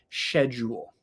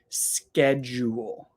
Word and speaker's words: schedule: who say schedule schedule but I think that that is only some people in the UK definitely not all of the people in the UK but some people in the UK say schedule I only know one person who says that and he is from the UK but for me I say schedule schedule and again this